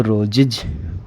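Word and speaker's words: roses: रो, रो, ज, रोज, रोज, और ये इसमें एस जोड़ दिया तो रोजिज, रोजिज, रोजिज। ठीक है, तो जो एस है इसका उच्चारण क्या हो जाएगा? इज, रोजिज।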